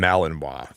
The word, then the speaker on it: Malinois: Okay, because I've heard people say that word before, but I never knew like how to pronounce it myself. It's called a Belgian Malinois.